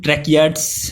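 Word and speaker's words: tracheids: इसका प्रोनाउंसिएशन ट्रैकियाड्स है.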